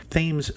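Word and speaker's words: Thames: this drives me crazy themes Street in Fels point is actually pronounced with the th not like TS and Broadway and Alisia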